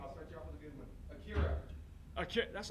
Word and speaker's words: Akira: Well, honestly, the only thing I have to really say about Akira or Akira as it's pronounced is you are aware